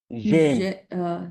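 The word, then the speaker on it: j'aime: থাকবে তখন হয়ে যাবে আরেকটা হ্যাঁ এটা উচ্চারণ কি হবে জেম জেম জেম জেম জেম রাইট জেম এটা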